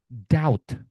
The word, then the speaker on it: doubt: plomer doubt doubt doubt. Nah, ini teman-teman bom bom climbing climbing. Semua B yang ada di sini tidak dibaca.